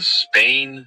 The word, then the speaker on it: SPANE: The study is called the Spain Scale of Emotion Research Project, and that's spelled SPANE.